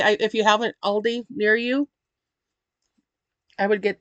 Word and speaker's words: Aldi: [cough and clears throat] So, if you have an Aldi or Aldi, um, as I've seen German people pronounce it because it's a German company, um, pick one up.